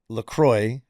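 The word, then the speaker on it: LaCroix: It's Laqua. That's how you pronounce it." Laqua. And then the company Lacroy put out an actual like memo or like saying it is Lacroy.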